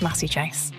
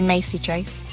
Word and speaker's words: Massey-Chase: So, it's Massie Chase. Um, how do how do they pronounce it? Sometimes people say Macy Chase, but it's it's definitely Massie.